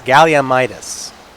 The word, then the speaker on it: Galliumis: leslie nielsen great actor galliumis i have heard a yell from across the world telling me that it's galliumis soft g like jerry yes don't assign pronouns